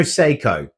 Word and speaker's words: Seiko: Uh Mizuno Seiko. That's the one, like the watch.